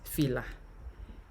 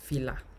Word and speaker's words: fìlà: Now, this alphabet, you pronounce it as if you want to pronounce them like, for example, a name like Philip. Yeah. Fi. As if you want to pronounce Philip. Fi.